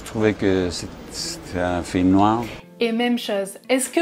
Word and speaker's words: noir: Alors, il ne prononce pas les R de façon très forte. Personnellement, moi je prononce un peu plus le R. Par exemple, un film noir, je vais accentuer un peu plus la prononciation du R.